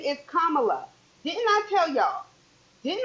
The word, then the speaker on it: Kamala: is play those games and her name is kamla didn't I tell y'all didn't I tell y'all the consistent mispronunciation the vice president of the United States